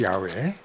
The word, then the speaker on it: 야훼: 그러니까 야는 다 여호와 또는 요즘 우리 발음할 때 여호와라고 안 하고 이제는 야훼라고 그러죠. 야훼.